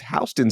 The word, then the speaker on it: Houston: In New York it's Hston Street. Houston Street is pronounced Hston Street. So like that H is different.